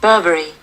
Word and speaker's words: Burberry: r b e double r y the correct pronunciation is burberry the next in the list is p-r-u-d-n-t-i-a-l the